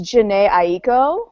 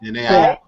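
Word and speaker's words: Jhené Aiko: I always get her name wrong. I believe it's Janae Aiko. Janae Aiko.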